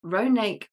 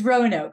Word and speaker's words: Roanoke: Institute she graduated from ronake college if I pronounced that correctly course it's Rono Rono okay was close close with